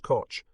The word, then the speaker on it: Koch: Army, Colonel Oscar William Koch, pronounced Koch, remarked that for all